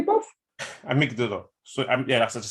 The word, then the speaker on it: amygdala: So I'm mispronouncing it. It's gone, innit? Yeah. So what did you just say, bruv? Amygdala.